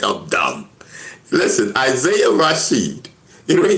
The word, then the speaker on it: Isaiah: It's pronounced Isaiah.